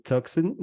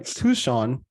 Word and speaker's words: Tucson: spent six years working in Refugee resettlement in toxin sorry Tucson Arizona sorry I pronounced that very wrong the first time and